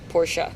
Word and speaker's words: Porsche: our member said that mr porsche pronounced it as porsha yeah porsche yeah yeah chicago sends